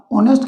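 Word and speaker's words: honest: जाएगा क्योंकि ल लगाओगे लेकिन आप ऑनेस्ट के अनुसार लगाओगे और ऑनेस्ट में हा साइलेंट राहत है वो आपका प्रनंसीएशन होता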